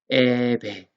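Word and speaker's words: אֶבֶן: 알레프 밑에 점 3개가 찍혀 있죠. 이 발음표에 보면은 뭡니까? 쇄골이죠. 쇄골. 쇄골은 에로 발음이 됩니다. 그래서 제일 처음에 알레프 밑에 쇄골이 붙어 있어서 그래서 에고 베트 밑에도 쇄골이 붙어 있죠. 그래서 배 되는 거예요. 에베.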